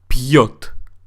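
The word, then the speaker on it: пьёт: So make sure that you do say пьет.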